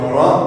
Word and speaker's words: ر: Car la lettre ra, c'est une lettre qui, dans la prononciation, va faire un R roulé. Si vous avez déjà fait de l'espagnol à l'école, ça va être exactement le même son.